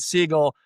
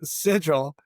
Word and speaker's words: Sigil: of your career between your law firm and Seagull, tell us a little bit more about you.